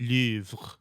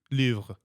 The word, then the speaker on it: Louvre: Well, if you're French, How How would they pronounce it? Louvre. Louvre. Louvre. That's disgusting. But like, they also say Pari and stuff for for Paris.